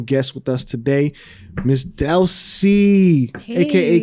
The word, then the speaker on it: Delsy: So my name is Delsy. Instagram, call me Delsy. I did that because a lot of people just get my name wrong. It's so simple. It's 2 syllables, but they still get it wrong.